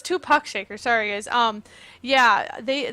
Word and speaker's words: Tupuck Shaker: uh two Puck Shaker I think I've been saying it wrong two I thought it was two pack oh well but it's two Puck Shaker sorry guys um yeah